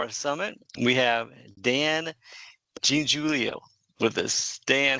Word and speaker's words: Giangiulio: And today on I think it's my 43rd interview so far for our summit, we have Dan Giangiulio with us.